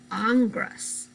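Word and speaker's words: Ingres: here very strange um last name here you pronounce it angras congress um and this is a cross between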